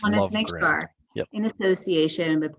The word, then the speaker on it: Lovegren: Am I saying that right? Is it Lovegren? Yep, you are pronouncing it correct. It's Lovegren.